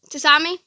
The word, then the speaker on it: tsunami: Tsunami. Tsunami? What? Tsunami. Oh, tsunami. Tsunami. The T is silent.